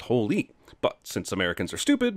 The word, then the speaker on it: Hole: here this seriously also in Norway Harry's last name would be pronounced as Holy but since Americans are